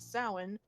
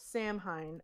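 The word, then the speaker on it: Samhain: from his native Celtic lands sacrificing children at sowin the Pagan celebration of the coming winter which we established last night was not the proper that one it's spelled Sam Hein s-a-m-h-a-i-n they pronounce it as Sam Hein in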